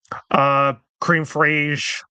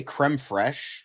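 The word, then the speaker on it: crème fraîche: CGI, the ending, cream fraiche. Are you And trying yes, to are you trying to say creme fraiche?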